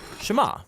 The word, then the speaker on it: Shema: is hear or listen which in Hebrew is pronounced Shema that's where the prayer gets its name now